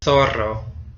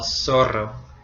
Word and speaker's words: zorro: And it makes a s sound in Latin America, so it sounds like the S in Latin America. And in most of Spain, it makes the th sound. So el zorro or el zorro.